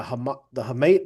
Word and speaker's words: hamate: I'm gonna somebody pronounced it last night on rounding third. I had it completely wrong. The hamate bone, hamate.